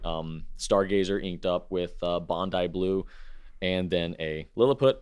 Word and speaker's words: Bondi: time that said that I mispronounced Bondi blue and said no it's Bond D it's a beach in Australia and I'm like I know I thought it was Bondi and it is Bondi it's Bondi blue okay you feel salty